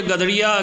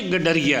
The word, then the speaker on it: गडरिया: पता नहीं आपको ये गदड़िया किसने पढ़ा दिया या कैसे आपने पढ़ लिया। बच्चों, ये गडरिया है।